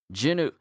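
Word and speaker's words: Jinwoo: I'm trying to make myself say Jinu all the time cuz that's the proper pronunciation.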